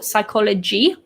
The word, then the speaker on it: psychology: with the job, or psychology, which is the study, we don't pronounce the P. So the P is silent. It sounds like it starts with an S.